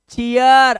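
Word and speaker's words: cheer: चीयर, अब चीर नहीं है बाबू तू, अब तू हो गया चीयर, क्योंकि लास्ट में तेरे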